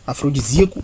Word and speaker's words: afrodisíaco: Portanto, então, aeródromo deve receber assento, portanto, afrodisíaco, afro de zíaco. Portanto, aqui a gente pode ver que ocorre um iato, tá?